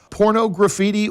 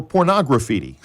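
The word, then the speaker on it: Pornograffitti: Do you prefer porno graffiti or pornography? Usually we say pornograffiti. I got you. But I suppose the right way to say it would be pornography.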